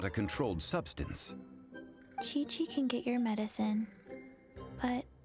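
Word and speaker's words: Qiqi: welcome to booboo pharmacy i am chi-chi wait that's how chichi is pronounced i only know the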